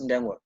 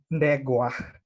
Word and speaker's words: Ndegwa: my name right, because I noticed even Pilisiwe is adding an extra N in my name. Okay. But it's Ndegwa, and I'm Kenyan.